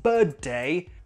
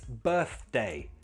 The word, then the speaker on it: birthday: It's not birthday, it's birthday. Birthday.